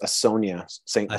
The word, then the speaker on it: Asonia: you on one thing it's pronounced a sonia sonia yeah just just so